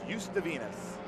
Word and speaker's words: Uzdavinis: You just drop the Z. Yeah. Just drop the R. He said it's Uzdavinis.